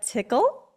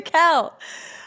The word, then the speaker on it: Tickell: welcome my guests today tickle no I said it wrong toel I've practiced it literally